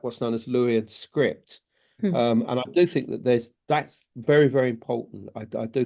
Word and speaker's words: Luwian: had their own language, which was Lurian, or Luwian as it's pronounced.